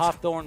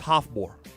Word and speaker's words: Hafþór: Would you have pronounced it Hawthorne? correctly? I would have said It's- Hawthorne Bjornsson. It's Hafþór. It's Bjornsson.